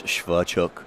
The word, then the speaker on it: Swerczek: And I asked him how you pronounce their name, and it's Swerczek.